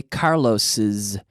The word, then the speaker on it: Carlos's: end that ends in an S like Carlos we say Carlos's it sounds like a Zed Carlos books Carlos's books so there is an extra syllable Carlos becomes Carlos's Carlos is Carlos's ok